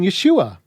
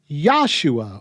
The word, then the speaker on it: Yeshua: weird however is that some believers who prefer to not call him Jesus don't even call him Yeshua but instead call him yahshua or yahushua or some other kind of linguistically incoherent pseudo-hebrew and I don't say